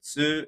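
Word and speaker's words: つ: But this you just pronounce it tsu, and you say ti, you say chi, actually, and si is she.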